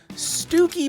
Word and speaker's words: Stiffkey: looking at a pretty wonderful navy blue called stooky Blue spelled stiff key which is a very interesting pronunciation but let's just move on this color